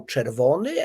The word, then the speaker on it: czerwony: So in Polish is czerwony, but it's written with CZ. And then so I said, oh, czerwony, and then she could see it, and she said, so ch is written in Polish with CZ, but in Spanish and English with CH.